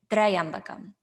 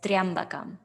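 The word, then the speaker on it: त्र्यम्बकम्: If it was a full tra plus a full ya, we would say Trayambakam, Trayambakam Yajamahe. However, what's given is Triambakam. So rather than saying two syllables of tra, ya, we say one syllable of triya.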